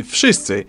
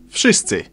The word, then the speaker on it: wszyscy: W in wszyscy should sound like V.